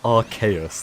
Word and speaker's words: Arceus: Yeah, I personally say Arceus. That's my take on the pronunciation of that Pokemon's name.